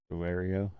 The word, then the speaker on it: Delario: MH is I don't even know how to pronounce this delaro delario okay it's d e l a r i